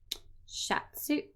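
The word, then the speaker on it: シャツ: Shatsu.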